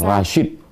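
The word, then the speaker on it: Rasjid: Rashid. J itu Y dalam ejaan lama.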